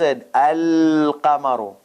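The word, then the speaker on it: القمر: Whenever there is moon letter, the lam will be pronounced al-qamaru.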